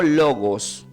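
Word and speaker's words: λόγος: la palabra viva significa se pronuncia como logos con acento en la o logos que es igual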